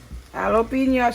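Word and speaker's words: jalapeño: put jalapeno pepper sauce jalapeno video okay jalapeno sauce the j is silent mother i do not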